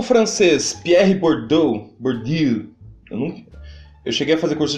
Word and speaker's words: Bourdieu: O francês Pierre Bourdieu, eu cheguei a fazer curso de francês, só